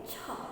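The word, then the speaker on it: छः: छ. ह जो है वो ह साइलेंट करना है.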